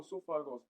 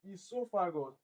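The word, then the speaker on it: oesophagus: The process of food movement from esophagus is not esophagus. I have cautioned you guys earlier. It's not esophagus. It's esophagus. This O is silent.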